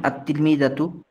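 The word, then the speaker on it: التلميذة: তা দিয়ে আর তা এই হরফটা হলো হরুফে শামসী এজন্য আলিফ লাম তো আমরা যুক্ত করলাম কিন্তু লামটা উচ্চারণে আসছে না এজন্য আত্তিলমিজু আত্তিলমিজাতু তো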